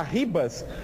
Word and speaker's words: Rivas: o zagueiro o Rivas se escreve Rivas mas segundo eles aqui se fala Ribas ele também tá voltando